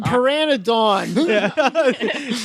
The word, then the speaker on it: pteranodon: saw a fucking pteranodon.